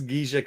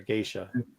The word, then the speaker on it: Geisha: They have I said Yeah, that's not how you say it either. Geisha. My bad. You said it wrong, too. I said Gisha.